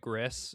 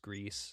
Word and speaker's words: Gris: I kept calling it Gris. It's pronounced Greece. Gris. That's how it's spelled. It's spelled G R I S. Gris, but it's it's pronounced Greece.